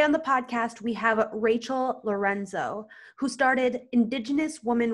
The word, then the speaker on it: Rachael: And it's Rachael, right? I pronounced your name right?